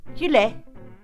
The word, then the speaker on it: gueule: Can you pronounce these 5 crazy French words? GUEULE.